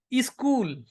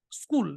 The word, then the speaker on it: school: So I was telling them, okay, pronounce school, and they were saying e-school. I said, no, e-school, school, e-school. I said, no, cut this e, school, just school, e-school.